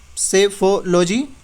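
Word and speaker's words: psephology: इसका जो correct answer option C है, दैट इज सेफोलॉजी। पी यहाँ पे साइलेंट है।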